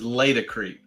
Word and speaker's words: Laticrete: I believe the right way to say it is Laticrete, because it's latex, Laticrete.